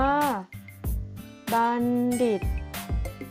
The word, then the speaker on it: บัณฑิต: คุณ ครู นะ คะ บัณฑิต อ่าน ว่า บัณฑิต แปล ว่า ผู้ รู้